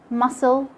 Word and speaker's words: muscle: letter c letter c is silent when it comes after an s at the beginning of a word like in scissors science scenario seeing and also silent and the sc comes in the middle of words like muscle and fascinate letter d letter d